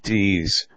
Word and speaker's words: dix: way to meld is Addicks pronounced DS which is French for ten Adickes is simply the